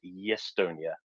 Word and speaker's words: Estonia: They couldn't speak Estonian very well, and their characteristic pronunciation of Estonia as Yestonia, so Yesti.